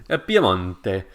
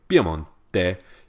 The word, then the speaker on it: Piemonte: Piemonte.